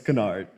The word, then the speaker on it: Kennard: So like, when I first moved to New York, a lot of people couldn't pronounce my name for some reason. It's Kennard, not that hard.